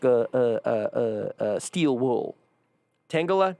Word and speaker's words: Tangela: Tangela? Tangela? I didn't have confidence in pronouncing it. Yeah, Tangela.